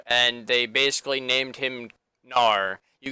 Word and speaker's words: Gnar: named him Nar you guys all corrected me yesterday when I was saying gar by the way just that's why I'm saying it Nar now because all of you corrected me that I was saying it wrong thank you guys for